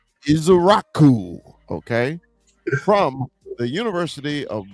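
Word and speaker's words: Ezeiruaku: We went Donovan, and please help me pronounce Donovan's last name correctly. Izaraku. Izaraku.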